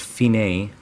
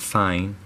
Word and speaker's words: fine: stands for the capo al Feeny this is pronounced Fein a not fine and here's what it means the capo means